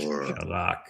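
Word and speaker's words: Chazak: Hazak. I think you have to be Jewish to actually pronounce that CH correctly.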